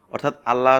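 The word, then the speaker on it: الله: অর্থাৎ জবর থাকার কারণে এই লামটাকে আমরা ল একটু মানে মোটা ভার করে পড়বো।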